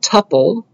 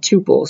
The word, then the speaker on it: tuple: Some people pronounce it tuple, but I learned it tuple, so that's how I'll say it.